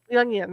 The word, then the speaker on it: Jung: you are a jungian young i'm sorry jungling sorry about that well it would be it's an easy mistake because it's a german pronunciation of the name as opposed to an english pronunciation if i was consistent